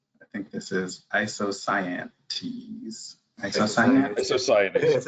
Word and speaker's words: isocyanate: Isocyanate? Isocyanate. It's spelled wrong, so it's yeah. There's an A missing there. You pronounced the word right, Marcus, the way it was written now.